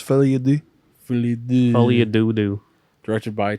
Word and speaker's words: Folie à Deux: go Joker Folly Ado okay it's pronounced fly Ado fly Folly adoo directed